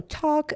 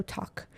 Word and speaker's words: talk: So talk, again, L is silent word, so talk.